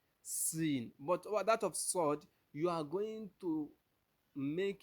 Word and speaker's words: ص: S to pronounce sord but the only difference is that you are going to let your your your lips be a little bit round while you are pronouncing the sword but in the case of the sin you make your lips to be flat and you make your